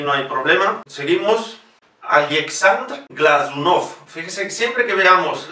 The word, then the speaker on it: Glazunov: con el criterio latino, siempre que veamos una Z, la pronunciación es del fonema Z, Glazunov. Glazunov es una palabra aguda y por lo tanto la O que lleva la símbola tónica la vamos a pronunciar como O.